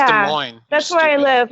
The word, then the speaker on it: Des Moines: where now I'm from Des Moines okay it's pronounced a Moines with my parents that's pronounced Des Moines originally yeah so you don't